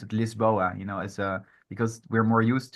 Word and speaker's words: Lisboa: So they see Lisboa and they would just also assume you would pronounce it Lisboa, as because we're more used to it's closer to what we're used to.